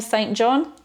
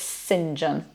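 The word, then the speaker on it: St John: John if your surname st. John it's not pronounced like that at all it's Sinjin then the city Worcester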